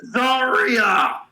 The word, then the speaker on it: Zaria: That doesn't mean I can pronounce their damn name correctly. Shut it. It's Zarya.